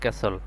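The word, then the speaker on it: castle: আর এখানে টির উচ্চারণ আসবে না। এখানে হবে ক্যাসল।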